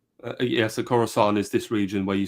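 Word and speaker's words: Khorasan: It's spelled a little differently, but it sounds like Corusant. Uh, yes, the Corusant is this region where you see Mashhad.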